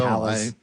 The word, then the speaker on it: Pallas: Neil Smith book, Pallas. Is that how you pronounce the asteroid's name? Yes, I believe so. Pallas.